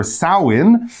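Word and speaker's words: Samhain: we were talking about Sam Hayne or sauwin that was the traditional pronunciation that was started and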